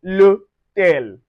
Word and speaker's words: l'hôtel: So we pronounce it together with a contraction. We say l'hôtel.